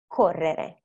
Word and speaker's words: correre: So the first example, we have ballare, correre. So the one that probably is going to be a little bit more challenging is a double R because you have to learn how to roll the R's, but it will come with practice.